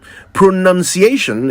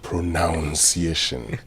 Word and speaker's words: pronunciation: verb is pronounce so they're led to think the noun would be pronunciation but it's pronunciation like enunciation and I'm sure you know those two words are sort of related pronunciation is about the correct